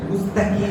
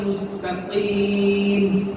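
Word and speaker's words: مستقيم: অনেকে কাফ উচ্চারণে ভুল করেন, মুস্তাকিম ব্যবহার করেন। দেখেন আরবির গুরুত্বপূর্ণ একটা ব্যাপার হচ্ছে শব্দ বা অর্থের উচ্চারণ। সামান্য একটু উচ্চারণের এদিক সেদিক হলে কোরআনুল কারীমের অর্থ পরিবর্তন হওয়ার মতো মারাত্মক ভুলও হতে পারে, নামাজ ভেঙে দেবে। এজন্য ইহদিনাস সিরাতাল মুস্তাকিম। ইহদিনাস সিরাতাল মুস্তাকিম। কাফটা খেয়াল করতে হবে।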